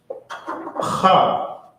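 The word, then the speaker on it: ח: And this character is pronounced Ha with the hogs, like what the hog spits out. It's not Cha, but Ha. Ha. So Abba, Ga, Da, Ha, Wa, Za, Ha.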